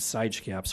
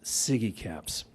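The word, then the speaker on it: SIGECAPS: Hale laughed at me when I said side caps well I apologize you ladies and gentlemen I miss I mispronounced Siggy caps but I knew what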